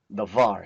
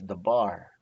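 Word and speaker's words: דבר: We have the word the var here, word. Some will say it's the bar, but I like to use V here, so mainly because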